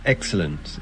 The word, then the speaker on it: excellent: The accent in the word excellent is on the first syllable.